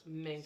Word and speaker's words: Minger: It's Minger, like singer with the M. With the M. Rod that's Minger.